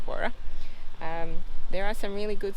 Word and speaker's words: Warroora: 14 mile warra station spelled differently but it's pronounced warrer there are some really